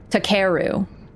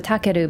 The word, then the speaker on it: Takeru: Because in English, it'd just be like, Takeru. But it's closer to Takeru, but even me, like,